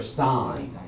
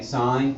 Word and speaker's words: sin: evil okay so s i n stands for sine okay sine c o s stands for cosine so opposite